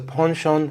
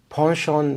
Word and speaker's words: penchant: In American English, it would be pronounced as penchant, but in British English, it closely resembles the French pronunciation.